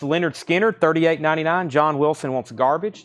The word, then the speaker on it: Lynyrd Skynyrd: buy Thrill 36.99 The Who BBC Sessions 33.99 pronounced Leonard Skinner 38.99 John Wilson wants garbage that was my